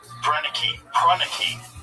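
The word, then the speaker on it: Proenneke: Pruneke, that's how you say his name.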